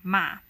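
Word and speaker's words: 马: an example m a ma if you pronounce it as a third tone ma it means horse but if you pronounce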